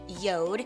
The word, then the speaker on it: Jord: the brand is called yod it's spelled like Jord j o r d but it's pronounced yod it is actually the